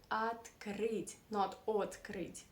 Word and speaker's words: открыть: where is the stress the stress is on right it is on the last syllable at creed that's why we say at greed that's not a very